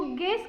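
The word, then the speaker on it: guess: का उपचार नहीं करते जी यू आई डबल एस इसमें भी हम एस एस को गैस कहेंगे गैस उसके बाद गेस्ट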